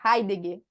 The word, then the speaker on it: Heidegger: Heidegger, é essa a pronúncia correta? Heidegger.